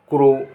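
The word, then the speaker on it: crow: सी आर ओ डब्लू क्रो, क्रो माने कौवा।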